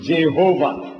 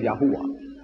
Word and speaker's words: Yahweh: get the J from Jehovah where did you get the J from J is another consonant at the follows it become Yahweh what is Yahweh yah